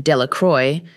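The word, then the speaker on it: Delacroix: Jones and Dicky delaqua the villagers pronounced this name delacroy eventually made a great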